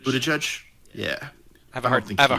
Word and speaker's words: Buttigieg: Pete Buttigieg. Buttigieg, yeah.